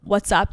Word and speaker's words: WhatsApp: like the Pakistani mango WhatsApp connect I've been trying I haven't been trying that hard but whatspp like my parents well how do you say it it's WhatsApp oh it's a p I'm like a native